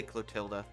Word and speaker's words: Clotilde: Clotilde now, huh? But more importantly, who do we have here? Yeah, they changed the pronunciation of her name all the time. It's usually Clotilda.